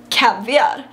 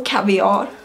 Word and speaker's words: caviar: i could see calories caviar or caviar i really don't care what you say there's two different pronunciations but uh and i